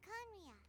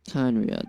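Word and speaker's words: Khaenri'ah: After we've dealt with the monsters, we should ask her to tell us more about Conria. Kanria, there we go. That's how you pronounce it.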